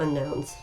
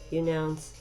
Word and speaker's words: Unown: Unowns. Unknowns. Yep. I didn't say them right. I was stubbornly trying to pronounce them the way they were spelled, which was open for interpretation in my in my humble opinion.